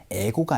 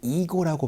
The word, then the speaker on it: ego: 에고가 아니고 이고라고 발음해서 자존감을 얘기를 할 때 이고라는 표현을 얘기를 합니다.